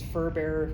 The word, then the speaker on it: fur bearer: To introduce what that means, I put this up here because it's kind of a confusing word, but it's fur bearer, kind of think like pallbearer.